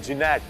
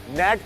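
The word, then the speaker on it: Gnat: और इस जहाज ने, ये जहाज जो है इसका नाम है जिनैट, नैट कहते हैं इसको, बट जी नैट इसकी स्पेलिंग है।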